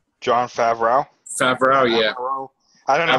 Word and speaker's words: Favreau: Favreau, yeah. I don't know how to say. I probably butchered it now, but yeah.